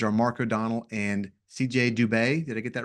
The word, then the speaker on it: Dubé: Your co-authors are Mark O'Donnell and CJ Dubé. Did I get that right, pronunciation?